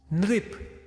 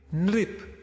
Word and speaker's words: नृप: अब ग के नीचे लग गया तो ग्री, न के नीचे लग गया तो नृ। उच्चारण पे ध्यान दीजिएगा, है ना। ग के नीचे लगा तो ग्री, न के नीचे लगा तो नृ, गृह, नृप, नृप मतलब राजा।